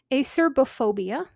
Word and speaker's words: acerbophobia: This next one has two different pronunciations and spellings depending on what book you're looking at. Acerbophobia or acerophobia.